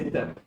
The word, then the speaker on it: Esther: Easter is a festival. This is Esther. Esther. Esther. S. E is silent.